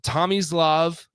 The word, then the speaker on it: Tomislav: I mean, so Avicius is pronounced Tomislav, Tomislav, Tomislav, and then his last name is Ivisic.